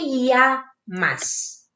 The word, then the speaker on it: llamas: Tapos, ang double L is sounds like ye. Kaya, como te llamas?